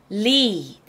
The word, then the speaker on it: lead: 자, 이건 read가 아니에요. 자, 발음 잘 보세요. lead. lead. 리드, 리드예요, 리드. 마치 리더십 할 때.